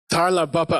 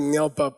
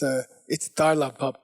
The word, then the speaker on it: dar la bab pa: Okay, the next one is called Tarla Bapa. I mispronounced it before. I said Nyalpa, but the carving was wrong. It's Tarla Bapa.